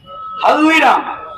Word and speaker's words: হালদিরাম: দোকানে দোকানে ব্যবস্থা চলবে হলদিরাম হালদিরাম হলদিরা ঠিক উচ্চারণ হচ্ছে না হালদিরাম তারা কাগজে বিজ্ঞাপন দিয়েছে চাকরির